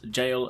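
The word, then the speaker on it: Gaol: old english word and it's not pronounced gal it is pronounced jail so anyway thank you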